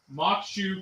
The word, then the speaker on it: Maque Choux: say uh M maku apparently has French pronunciation of Native American name so this this little